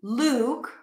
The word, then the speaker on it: Luke: Two different words, tense oo, Luke, and then look.